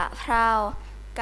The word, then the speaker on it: กะเพรา: ขอ เสนอ คำ ว่า กะเพรา กะเพรา อ่าน ว่า กะ เพรา ตัว อย่าง ประเทศ หมาย